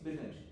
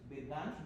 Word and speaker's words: Birgunj: It announced that the current location is Birganj. The pronunciation was not correct. It's Birganj because the accent the American accent cannot take G U and J.